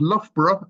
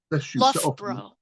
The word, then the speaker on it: Loughborough: It's pronounced Loughborough, and it's north of London. It's in the Midlands, not south of London. But anyway, Oh, I thought it was south. Loughborough.